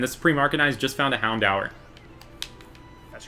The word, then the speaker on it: Houndour: Houndour. Houndour. I say Hundor.